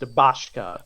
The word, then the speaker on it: Bashka: And his name is pronounced Bashka. Bashka.